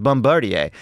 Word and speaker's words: Bombardier: my joy from saying things like it's actually pronounced Bombardier and sure it's E6 but yeah it is